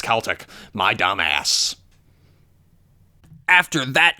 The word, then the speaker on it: Celtic Frost: I watched a couple four movies where they pronounce it Celtic so I thought that was how it was pronounced for the longest time but apparently it's Celtic my dumb ass after that gnarly discussion topic